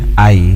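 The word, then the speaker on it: Haüy: Actually, it is pronounced Aïe in French, H-A-U-Y. Okay. The U has 2 dots on top. Valentin Aïe, he founded a school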